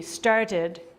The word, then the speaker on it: started: okay so so started start ends with the t's sound so you pronounce the e D started yeah so he's a